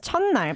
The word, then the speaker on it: 첫날: No, actually it becomes 첫날 because it mingles with the next consonant, The nian. So the T kind of disappears, right?